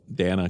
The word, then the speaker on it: Dana: He's a perfect with TV guy, so If it's Uh Dana cuz it rhymes with banana.